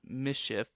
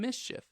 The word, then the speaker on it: MSCHF: new york streetwear company mschf which i assume is pronounced mischief um yeah okay cool